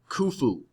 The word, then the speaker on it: Khufu: god king of the old kingdom was named khufu pronounced phonetically fu so legend says this is a